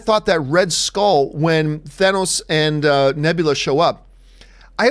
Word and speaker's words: Thanos: to make sure, but while everybody pronounces Thanos' name with an O, Nebula is the only one who pronounces it with an A. Sounds like Nos in car. Wonder why. Thanos?